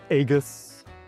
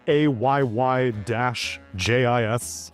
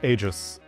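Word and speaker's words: Aegis: g I s was being regularly pronounced or mispronounced depending on your perspective as Aegus. And then Ice Frog came in added the tool tip. It's pronounced a Y-jis. It's agis.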